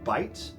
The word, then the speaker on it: Bait: his name is bite it's spelled bait B AI T but it's pronounced bite um he's great phenomenal